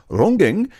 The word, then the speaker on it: ronggeng: Sejak Sulastri hilang 7 tahun yang lalu, saya belum menemukan pengganti penari ronggeng sejati desa Mangunsari. So RONGGEng is how I should have pronounced it.